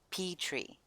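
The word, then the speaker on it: Petre: Peter in English, but it would be pronounced like Petri, Petri, I guess. Phonetic spelling of. Okay, it says Petri under how to pronounce. Phonetic spelling of P-E-T-R-E. Petri.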